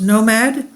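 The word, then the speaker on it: NOM4D: to smallscale orbital demonstrations Nom 4D pronounced Nomad aims to test new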